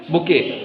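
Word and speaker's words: bouquet: हैं क्या बोलते हैं बुके स्पेलिंग तो कुछ ऐसी लिखी है बुकेट जैसी लेकिन टी साइलेंट होता है उसको हम बुके बोलते हैं इसकी स्पेलिंग क्या है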